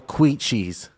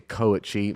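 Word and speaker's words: kouchi: I've been hitting the double quichis. What's a double quichi? It's actually a koichi, mispronounced by Gordon himself.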